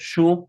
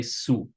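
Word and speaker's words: શું: Remember that for the word shu, we can pronounce it one of two ways. We can either pronounce it shu as it is written, or we can also say su. Su or shu, both are perfectly fine.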